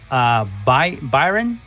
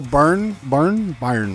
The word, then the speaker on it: Byrne: She played the mom, and then we have Gabriel Byron. That was Gabriel. Dad. Okay, here's the thing about him, right? He's actually Gabriel Byrne. Byrne, is it?